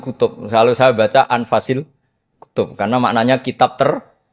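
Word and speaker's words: أنفس: saja di sini ditulis anfusil kutub selalu saya baca anfasil kutub karena maknanya kitab ter baik kalau kitab terbaik bacanya bukan anfus tapi apa anfas ya nanti kamu debat sendirilah sama teman-teman Ini bacanya apa?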